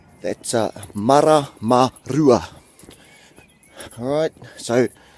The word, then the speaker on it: Maramarua: Alright, so there's probably only 2 places in there, and that kupu that's difficult to say, and I'm going to teach you how to actually say it, and that's the R. Everything else is pretty simple. They're all short vowels, so there's no stressed letters in there. Alright, so your and your, so it's like saying your vowels short, e, I, o, u.